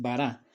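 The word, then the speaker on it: ברא: En este caso, la pronunciación que generalmente se le da es bara. Como ya vimos en el video anterior, esta palabra bara también pudo haberse traducido o pudo haberse leído como veró, o incluso hay algunos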